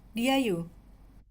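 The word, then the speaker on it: Di'ayu: Ya apa bacanya nak? Diayu. Oh Diau. Ada apostrofi di atasnya itu ya.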